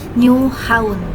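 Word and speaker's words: Nyhavn: Jadi ternyata nydengar itu bakal dibacanya nu atau new dan haun itu kita bacanya haun bukan haven bukan tapi haun. Jadi diucapinnya itu new haun gitu guys.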